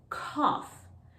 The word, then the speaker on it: cough: look at some examples number one is when it ends with the sound off so this word is cough cough i started coughing